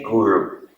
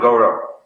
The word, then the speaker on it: guru: Now there's two words, guru and guru. Guru and goro, or goro. How do you say cow in Hindi? But there's another word. Huh? Huh? Anyway, it's close to guru. Not garo. Means? It means in Bengali, a cow.